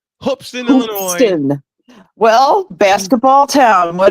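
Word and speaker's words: Hoopeston: my South Carolina Gamecocks what folks hoopson Illinois hoopson Illinois I gotta say it right hopston Illinois well basketball town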